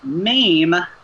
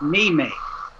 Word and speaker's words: meme: that irritate me like she pronounces the word meme as me mate yeah she refuses to